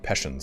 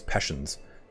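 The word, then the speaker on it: Pechenegs: I think it's Peshens. I know you don't pronounce the G as hard as I believe.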